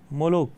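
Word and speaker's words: Moloch: मोलोक है इसको हम इसका प्रोनंसिएशन मोलोक करेंगे एमओ एल ओ सी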